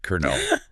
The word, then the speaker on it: colonel: Two syllables spelled C O L L O O N E L pronounced Kernel. It's probably one of the most extreme examples of spelling and sound just not matching up at all.